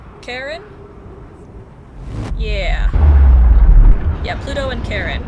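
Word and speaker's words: Charon: C H A R O N I think pronounced Karen.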